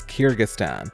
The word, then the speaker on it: Kyrgyzstan: and immediately thought wait what i can't even pronounce its name before you ask it's kyrgyzstan believe it or not it's easy to see